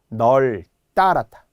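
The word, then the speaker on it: 널따랗다: 다만 널로 발음이 되는, 즉 비읍 발음이 안 나기 때문에 다음 소리를 올려서 된 소리로 표기. 널 따랐다, 널 찍하다, 얄 따랐다.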